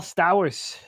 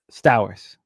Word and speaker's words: Stowers: Number one is Kyle Sters. Sters Sters the young phenom on the Marlins. I should be able to pronounce his last name. And uh, Stowers Stowers.